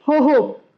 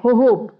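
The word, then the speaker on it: jojoba: बेर होहोब, बेर को इंग्लिश में होहोब कहते हैं। इस शब्द में जे की आवाज ज नहीं आती, साइलेंट है, इसलिए इसको ह कहते हैं, होहोब।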